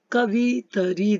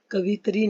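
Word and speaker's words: कवयित्री: कवितरी दिया है, कवितरी शब्द बना है, कवितरी नहीं होता है, क्या होता है? कवित्री।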